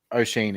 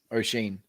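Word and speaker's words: Oisín: Yeah, O'Sheen is how it's pronounced. I've been told by a reliable source. O'Sheen. Right. Like as in Mr. Sheen, but O'Sheen.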